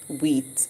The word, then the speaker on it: wheat: good w and h remember the h is silent so we hear only the w saying so eat wheat and what small what